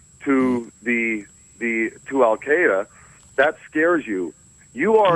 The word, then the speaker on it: Al-Qaeda: Al-Qaeda, by the way, is the correct pronunciation.